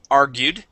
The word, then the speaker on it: argued: just like that and argued okay stress at the beginning argued argued excellent okay uh let's go